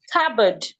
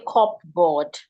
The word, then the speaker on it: cupboard: We have cupboard. We should not say cupboard.